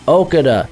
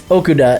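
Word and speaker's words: Okudah: pick and then f5 Jeffery Okada or Okuda and you know I mispronounce names man don't don't come to down on me for that but it's Okuda and yet new dude's been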